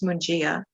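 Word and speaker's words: Mungia: in his last either it's m-u-n-g-i-a i believe it's munjia so if we could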